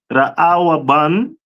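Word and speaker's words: רְאוּבֵן: This one is the tribe of Reuben which is pronounced Raawaban in the Hebrew which means behold a son.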